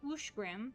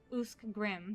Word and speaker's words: Uskrim: Uskrim is Ushgrim and not Uskgrim.